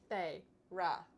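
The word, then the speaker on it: Feyre: Faye. Ra.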